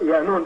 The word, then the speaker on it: Yaanuwn: They say Yaanuwn, it's pronounced Yaanuwn, depending on the dialect of what galaxy you're in.